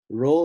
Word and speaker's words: Ro: Ro looks like a P in English, but it's pronounced like an R, spelled Ro.